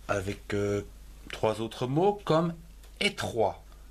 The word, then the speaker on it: étroit: Terminons avec trois autres mots comme étroit, E, accent aigu, et T-R-O-I-T, étroit.